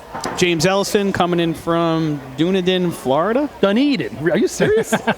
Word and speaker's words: Dunedin: It's Dunedin.